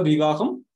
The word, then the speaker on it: விவேகம்: அடுத்தது சொல் இலக்கணத்துக்கு மட்டும் இருக்கிற நூல் அப்படின்னு பார்த்தோம்னா பிரயோக விவேகம், இலக்கண கொத்து, பிரயோக விவேகம். இந்த இடத்துல நல்ல நானே பாருங்க தப்பா ப்ரொனவுன்ஸ் பண்ணிட்டேன், விவாகம்னு சொல்லிடக்கூடாது, அது பேரு விவேகம்.